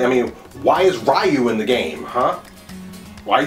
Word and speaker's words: Ryu: they're in there and it's pronounced Ryu are you kidding me we've been singing for years and you still can't say it's like saying manga as manga wrong